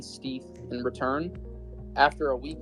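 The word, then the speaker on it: stETH: So the way that Lido works is when you delegate ETH and receive staked ETH, or I pronounce it Steeth, in return, the revenue that's coming from the validator is shared in the form of a reflect token.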